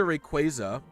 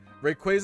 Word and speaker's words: Rayquaza: like oh well but then it's supposed to be like a quasar i guess is the